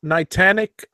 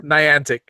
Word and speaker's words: Niantic: Speaking of mispronunciations, is Nitanic still out there? Nitanic, or you mean Niantic?